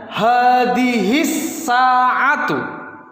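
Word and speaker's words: هَذِهِ السَّاعَةُ: Perhatikan, hadihi as-sa'atu. Dibacanya hadihis sa'atu. Di sini huruf alif tidak terbaca, lam juga tidak terbaca, tapi keduanya tetap harus ditulis.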